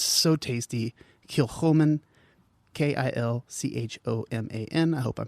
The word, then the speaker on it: Kilchoman: So I did bring some scotch, and because we are going to be discussing, a kind of a scary-ish movie, this is pronounced Kilchoman.